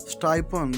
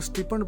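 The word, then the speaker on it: stipend: Ali gets स्टाइपेंड weekly, Ali को हफ्तावार वजीफा मिलता है। इसे कुछ लोग स्टिपेंड पढ़ देते हैं, यह सही प्रोनाउंसिएशन नहीं है।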